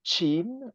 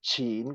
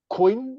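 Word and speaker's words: Qin: Okay uh for example if you see q e i n which is chin or second tone chin which is the principality having given birth to the first Empire if you pronounce a queen and it's written queen with the English value or pronunciation everyone understand you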